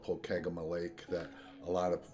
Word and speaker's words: Pokegama: So one thing, the GPS pronounced it Pokegama. So Brady and I got in a conversation as to what's the right way to pronounce that.